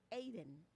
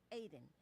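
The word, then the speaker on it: Ayden: And it's pronounced Aiden. Aiden.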